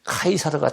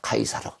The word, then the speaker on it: 카이사르: 그래서 시저를 갖다가 그 당시 말인 라틴어로 발음을 하면 카이사르가 됩니다. 카이사르.